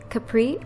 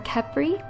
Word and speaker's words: Khepri: which means the sun in Sanskrit, and this is spelled K-A-L-Y-N-D-A. Next, I have another K name. It is the name Khepri or Khepri, spelled K-H-E-P-R-I, and it is an Egyptian name meaning morning sun.